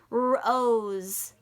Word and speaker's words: rose: Rose. Rose. That's right. It's an S. It might sound like a Z, but it's not. It's pronounced rose.